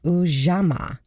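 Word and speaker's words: Ujamaa: The fourth is cooperative economics, and it's ujama.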